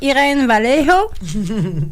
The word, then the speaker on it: Irene Vallejo: Alors, c'est Irene Vallejo. Oui, non? Irene Vallejo. Étincelle d'humanité. Tu sais, pour ceux-là qui ne font pas du Duolingo comme toi, Irene Vallejo, V-A-L-L-E-J-O.